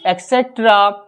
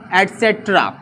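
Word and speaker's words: et cetera: यानी कि हम लोग बोलते हैं एक्सेट्रा एटसेट्रा, यहाँ पे क्या होता है, हम प्रोनाउंसिएशन हमारा ई वाले वर्ड से निकलता है जो कि रॉन्ग है। इसका correct pronunciation my dear student क्या होता है, इसको देखिए, यहाँ पे ये स्टार्ट हुआ है ई से, बट हमारा जो करेक्ट प्रोनाउंसिएशन होता है ईटीसी का वह होता है एटसेट्रा।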